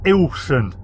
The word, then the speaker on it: Ilkeston: me know yourself it's it's in a place called ilkeston I believe which is uh pronounced by the locals ilsen uh so anyway but